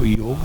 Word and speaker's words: योग: नहीं बोलेगा आयुर्वेदा, और योग कभी नहीं बोलेगा योगा।